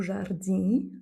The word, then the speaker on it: jardim: Il y a les terminaisons i, em, par exemple, o jardim, donc attention à ne jamais les prononcer, c'est M à la fin, ou homem, comme on a vu tout à l'heure, ou jovem, et enfin o perfume.